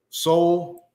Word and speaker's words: Sowell: They added in Chase Sowell. He was a really soul. That's how you spell it.